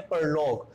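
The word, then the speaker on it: prologue: लेते हैं एग्जाम्पल हम, पी आर ओ एल ओ जी यू E, again ji यू दिया हुआ है, यू ई साइलेंट हो जाएगा, जी हमारी ग की साउंड देगा, इसे हम क्या बोलते हैं, परलोग।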